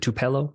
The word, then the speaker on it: Tupelo: when I search for is it two pillow is that how you pronounce it yeah Tupelo home inspector you're up